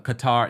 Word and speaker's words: Qatar: um Asha I apologize I'm mispronouncing um uh Qatar not cutter Kim okay I wasn't